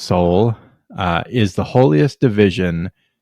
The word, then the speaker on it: Sol: The official title, Sector Solar, um, also named the Soul Sector, pronounced Soul, uh, is the holiest division of imperial space with within the segmentum solar.